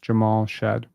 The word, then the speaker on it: Jamal Shead: know you've articulated it really well it is pronounced Jamal shed okay good that's that's great I don't really